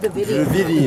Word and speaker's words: Dravidian: Can you pronounce it? Dravidian.